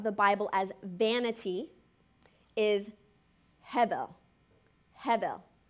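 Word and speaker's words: הֶבֶל: Bible as vanity is Hebel Heather it's actually pronounced more with like a V but it's Heather it's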